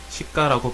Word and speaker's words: 시가: 시가라고 발음하면 도시의 거리라는 의미가 있고 된소리 되기를 적용해 시가라고 발음하면 시장의 가격이라는 뜻으로 바뀝니다.